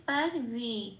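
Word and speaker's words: সর্বে: বয়কারে লাল দিয়েছি কেন? 2 নম্বরে তালিকাভুক্ত করে দেওয়া আছে বয়ের উচ্চারণ সংস্কৃততে ও প্লাস অ, মুখটা খুলে বলতে হয় ওয়া, কিন্তু আমি উপরে ব্র্যাকেটে দিয়েছি ও প্লাস এ কেন? কারণ বয়ের এখানে একার আছে। তাহলে উচ্চারণটা কি হবে? রে। তাহলে শব্দের উচ্চারণটা কি পেলাম সংস্কৃততে? স্যার রে এটা।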